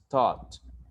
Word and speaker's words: taught: Normally A and U, which is a dictum composed of two vowels, will be always pronounced like O. So we have, in the first one is taught, which is the past tense of teach. And the GH in English will always be silent. You don't pronounce the GH. So therefore, the pronunciation is taught, taught and thought.